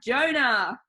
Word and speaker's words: Jonah: He's from the Old Testament, he hates swimming, and his name rhymes with loner. That's right, guys, today we have Jonah.